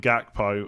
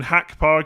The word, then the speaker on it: Gakpo: gonna happen Never Gonna you're never gonna get it the correct Dutch way it's gonna have to be Van Dyke and gakpo I mean hack Park have just about get